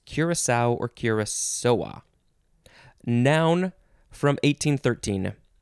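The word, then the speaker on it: Curaçao: curably interesting next is you can say curacao curacao or just curacao or curacao and that's or you can emphasize the last syllable more so curacao curacao i always just say curacao c-u-r-a-c-a-o and there is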